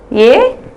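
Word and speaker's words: यह: இந்த வார்த்தை யூஸ் பண்றப்ப படிக்கிறப்போ யஹ், பட் நம்ம ப்ரொனவுன்ஸ் பண்றப்ப எப்படி பண்ணணும்னா ஏ, இவன்.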